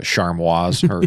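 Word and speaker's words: Chamois: I I think they're you're supposed to pronounce it like charmois or something like that I I it's a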